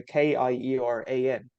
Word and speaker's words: Kieran: and some guy from Ireland his name was Kieran mchu asked a question Kier is is is spelled obviously with a k i e r a n the Irish version is just c i a